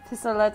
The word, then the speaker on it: pistolet: So this is the first card called Pistolet mitrailleur? I don't know. You do it. I believe it's pistolet. Pistolet. In French, you wouldn't pronounce that T at the end, right?